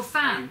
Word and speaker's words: Fan: F VA a no F A oh fan like like as a found okay okay I got